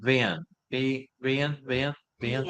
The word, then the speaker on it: Vin: Diane, if you want to put a pronunciation spelling of it in the comment boxes, it would be Ben. Vin? V V-I-N. Vin.